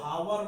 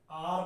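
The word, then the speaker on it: hour: ह ओ यू आर अब इसको हावर नहीं पढ़ते हैं प्रॉब्लम है यदि आप इसे हावर पढ़ेंगे तो गलत होगा की आर होता है क्या होता है आर होता है आर पढ़ते हैं इससे तो आर में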